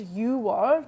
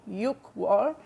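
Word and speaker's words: 유월: It's the same kind of thing for June, and June is yuwar, not yukwar.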